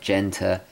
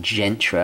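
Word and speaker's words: Gérald Genta: in the previous video i butchered his name I kept saying Gentry I think my dyslexic brain was was thinking of the the urban Gentry and mixing his name-o anyway he redesigned it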